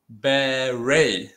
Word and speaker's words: beret: okay no okay so this pronunciation is very special is beret okay berry berry okay berry berry berry okay berry okay why is so special because beret came from this country okay come okay boys